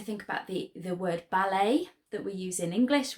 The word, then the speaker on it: ballet: about the the word ballet that we use in English which is obviously a French word and we never say ballot although we write it with a T on the end so remember your silent